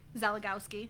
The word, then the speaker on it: Szelagowski: Pronounce your last name for me. Szelagowski. Szelagowski.